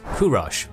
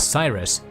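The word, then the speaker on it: Kourosh: was born this boy known as kurosh by old persian pronunciation but to us as cyrus came into the world at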